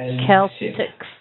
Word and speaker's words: Celtic: Ancient Celtic Festival. Celtic festival. So an ancient Celtic. The I is usually a schwa. Sometimes I sound a short I sound, but Celtic, ancient Celtic festival of Samhain.